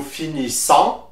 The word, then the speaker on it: finissons: For nous, the S at the end is silent, so you will say nous finissons.